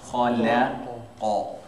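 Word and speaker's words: خلق: It sounds different. If I say khalaqa and they're all the same versus I say khalaqa, khalaqa, and then you go faster, you pronounce it obviously faster, but you still hold through.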